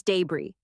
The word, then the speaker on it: debris: That's It's debris. French vibes. Fancy pronunciation.